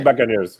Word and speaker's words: Buccaneers: Tampa Bay Buccaneers.